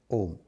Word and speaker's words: Om: Then after 5 minutes, chant Om, listening to the sound, not for others to hear, like Om. Notice that I give a lot of stress to the last syllable, Ma.